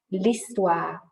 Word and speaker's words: l'histoire: And that's because we don't really pronounce the H in French.